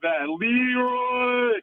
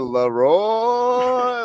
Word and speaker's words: Leroy: Leroy. Get him out of here. Hey. He put the wrong emphasis on the wrong syllable. Like, Wait. Hey. Like it's the first ever Leroy.